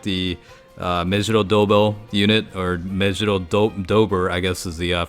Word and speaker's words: Mejiro Dober: The bingo rewards here, again, you can get the Mejiro Dober unit, or Mejiro Dober, I guess is the phonetically correct way to say it.